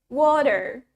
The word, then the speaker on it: water: the word water well in British we say it utha well in American English we say it water so let's practice again